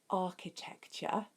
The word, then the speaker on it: architecture: Architecture. So you spell it with a CH, architecture. Maybe in your head you can think of like an archway. So archy, and then tect, and then URE, architecture.